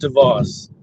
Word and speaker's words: DVOS: a sentence and uh it's pronounced DeVos DeVos yeah that's a French ass name I'm not mad at